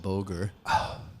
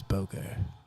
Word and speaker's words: Booger: Chris would pronounce that boger. Mate, it's On. it's Booger.